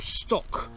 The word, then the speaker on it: Stoche: Its name was actually, I think, pronounced Stoche or Stock. I think it's spelled S-T-O-C-H-E, and I think the meaning an outlying farmstead or hamlet.